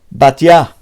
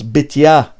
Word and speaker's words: Batya: Batya, or the Sfaradim pronounce Bitya. Okay. In Yeshiva they said Batya.